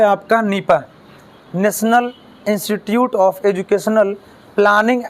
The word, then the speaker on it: NIEPA: इसका प्रोनाउंसिएशन जो होगा हम लोग किस रूप में करेंगे? नीपा के नाम से।